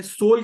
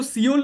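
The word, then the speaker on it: Seoul: मनिला मनिला में है सोल capital किसकी है उसको सिओल नहीं पढ़ते उसको सोल पढ़ते हैं ठीक है ई साइलेंट होता है तो सोल कैपिटल किसकी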